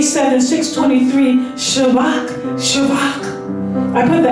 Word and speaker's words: Shabach: lexicon Strong's eight seven six twenty three shabbat shabak I put the accent on the second syllable and has a V instead of a